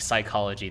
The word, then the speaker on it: psychology: you know and like psychology the p is silent like like what the